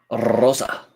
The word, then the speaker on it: Rosa: You have to roll your R's, Reese. Rosa. Yeah, there you go.